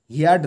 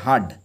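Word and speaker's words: heard: second form হচ্ছে হার্ড হিয়ারড নয় এটা উচ্চারণ হবে হার্ড বীরবল হার্ড বীরবল শুনলো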